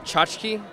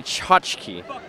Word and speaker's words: tchotchke: Isn't it chachki?